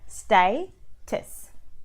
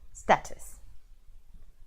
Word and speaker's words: status: the word status so it should be pronounced as stay tits rather than status okay so the word